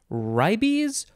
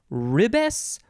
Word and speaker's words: Ribes: of this shrub is would you say ribey's ribbus ribes probably rib s i don't know this is a very i don't know if we're using the latin pronunciation here it's just r-i-b-e-s so